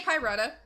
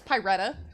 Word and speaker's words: Pyretta: good at pronouncing it just say pyrata or pie yeah but yeah it's pyretta yes the color of fire okay let me taste